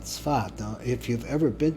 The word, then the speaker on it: Tzfat: Now they pronounce it in English, they always write it Safed, but it's Tzfat. Or in Ashkenaz, it's Tzfas.